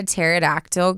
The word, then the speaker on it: pterodactyl: Why can't you hear a pterodactyl go to the bathroom? You know it? No. Because the P is silent.